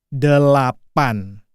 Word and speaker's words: delapan: Eight in bahasa Indonesia is delapan. The dean. There is three syllables there.